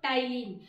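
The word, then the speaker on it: ptyalin: टाइलिन की spelling को जरा ध्यान कर लो, इसमें पी क्या है, साइलेंट है ना, नहीं तो पी टाइलिन हो जाएगा, ठीक है ना, बट यहाँ पर पी साइलेंट होता है, तो ये टाइलिन, इसको PTYLIN।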